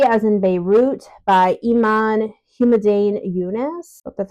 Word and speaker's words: Iman Humaydan Younes: I read was b as in Beirut by Iman humdan yunice that's how you say her name translated by